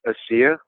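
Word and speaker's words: ASEA: mispronounce this is it as is it pronounced AI it's pronounced AIA AIA okay so you're an independent contractor right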